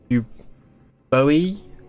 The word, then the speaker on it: Euboea: where today we are hunting the center of you Bowie that's how you say his name and he's